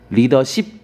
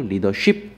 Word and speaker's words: 리더십: 이런 것도 그 다음에 영어로 ship라고 하는 것들은요 다 10으로 발음해야 되지 쉽이라고 발음하지 않습니다 멤버십 멤버쉽 아니고 멤버십 다음에 스킨십 아니고요 리더십 맞고 리더쉽 아닙니다 나머지 것도 헷갈릴 수